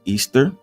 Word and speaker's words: Ishtar: She was called Ishtar, pronounced Easter, a starte in English.